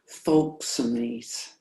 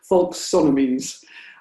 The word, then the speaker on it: folksonomies: And then the other thing that is a development of Web 2.0 are these hashtags, or other folksomies. How do you pronounce that? Folksonomies.